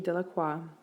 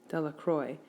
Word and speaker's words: Delacroix: Bobby and Harry Jones in Dicky dellacroix the villagers pronounce the name Delacroix eventually made a great